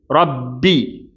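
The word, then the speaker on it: رَبِّي: ர உயர்த்தி உச்சரிக்கப்பட வேண்டிய தஹீமான எழுத்து. பா லைட்டாக உச்சரிக்கப்பட வேண்டிய சாதாரணமான எழுத்து. அப்போ இதை வந்து எப்படி வாசிக்க கூடாதுன்னா ரப்பி அப்படின்னு ராவ கடுமையா உச்சரிச்சு பாவையும் கடுமையா உச்சரிக்க கூடாது. அப்ப என்ன செய்யணும் ர பி பி அப்படின்னு லைட்டா உச்சரிக்கணும். அப்ப ராக்கு மட்டும்தான் தப்ஹீம் கொடுக்கணும். ராக்கு மட்டும் ஹெவினஸ் கொடுத்துட்டு பாக்கு லைட்னஸ் கொடுத்துரணும்.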